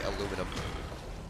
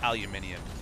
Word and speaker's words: aluminium: know those little differences like how you say aluminum it's pronounced aluminium mate it's got an eyee in it you